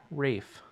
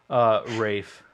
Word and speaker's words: Ralph: There's a lot of emotions, but I also learned how to correctly pronounce Ralph Fiennes, who was Voldemort, into Rafe Yeah, Fiennes.